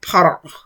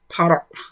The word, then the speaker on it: para: difficult to pronounce because you start by saying the PR sound and then you close the throat for the end. So it's like para, para.